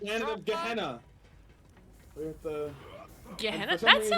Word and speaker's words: Gehenna: We're at the Gehenna? for some That reason, sounds it's familiar. It's pronounced Jenna, actually.